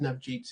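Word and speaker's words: Navjeet: those questions sure uh nav is fine but really well pronounced nav Jeet is is the correct way to pronounce my name hi everybody um pleasure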